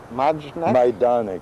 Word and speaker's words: Majdanek: How would you pronounce it? Majdanek.